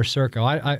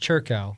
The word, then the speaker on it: Circo: Others that I have on my list are Churco or Circo. I've been told it's pronounced Churco, even though it looks like it's Circo.